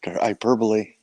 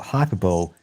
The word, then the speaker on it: hyperbole: 10 years ago because when i read it i thought hyper bowl must be one of those stupid american sports things oh it's it's it's